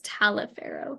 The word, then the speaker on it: Taliaferro: Taliaferro. Some people say Taliaferro, some people just say Taliaferro. Most of my family just says Taliaferro, kind of without that A. Okay, Taliaferro, that's Sounds easy.